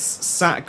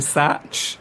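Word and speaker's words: Sach: officer Cadet Harry ballat I presume that the pronunciation you intended it's sack like s a c h like J says sack what should just go a SAT well no it's it's pronounced sack is that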